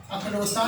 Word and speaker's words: اکلوتا: اس کے بعد ہے اکلوتا۔ اکلوتا نہیں ہوتا، اکلوتا ہوتا ہے۔ اگلا جو لفظ ہے